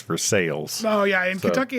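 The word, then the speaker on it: Versailles: a a town called versa and she's like Versa and I'm like yeah Versa v e RS a i l l e oh honey you mean versales oh yeah that's right down the road about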